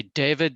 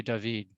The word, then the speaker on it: David: jacques lui devide and if you just say David that's okay because that's the pronunciation but I speak a little bit of French so I say Jacques lui dahveed okay each word has a